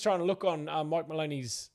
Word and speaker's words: Maloney: to look on Mike Maloney's Maloney not Mahoney there's my bad sorry